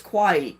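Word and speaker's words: Kauai: is in Hawaii though but it's quwaii k a u a I so Mary got it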